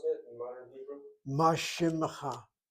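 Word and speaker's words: מה שמך: Mashimcha. Not shimcha, mashimmecha. You sound that shvana nitamem.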